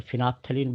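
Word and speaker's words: phenolphthalein: course में व है फिनाल फ लीन तो फिना लीन बोलते हैं लेकिन स्पेलिंग ध्यान रखिएगा फिनाल फ लीन है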